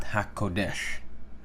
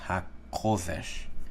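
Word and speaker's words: הקודש: And biblical Hebrew is also known as either Lashon HaKodesh or Lashon HaKodesh, not HaKodesh. It's HaKodesh, accent on the Kof, okay?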